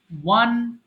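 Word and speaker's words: won: আমরা এটা সারা জীবন অনেকে ভুল করে আসছি, 95% পিপল। আমরা বলি উইন ওন ওন, এটা কিন্তু ওন হবে না, আমরা 1 2 3 বলি, এটার উচ্চারণ হবে ওয়ান ওয়ান।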